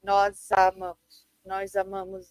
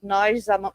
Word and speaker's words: nós amamos: You kind of pronounce it as if it were one word. So you'll say like nós amamos a girafa. Instead of nós amamos, because it's harder.